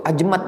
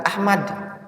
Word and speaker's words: Ajmad: Nah, itu Ajmad bacanya, bukan Ahmad. Bisa saja orang salah baca Ahmad. Yang benar Ajmad.